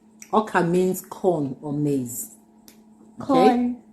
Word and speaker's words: ọka: Ọka. Ọka means corn or maize.